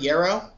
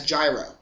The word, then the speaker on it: yarrow: i hate people that mispronounce the word yarrow as gyro i know it's spelled like that with an english pronunciation but that's not the right way to pronounce the word and i don't know it's just annoying pronounce it right it's like if i